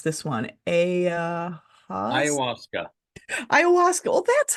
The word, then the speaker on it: ayahuasca: As a psychotherapist, teacher, author, and mastery teacher of Christian, I can't pronounce this one, ayahuasca. Ayahuasca.